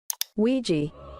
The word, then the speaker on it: Ouija: It may seem unrelated, but I've asked a data analyst expert to give us the proper pronunciation of this word. Nee, alsjeblieft niet. Ouija. Ouija boards, ladies and gentlemen.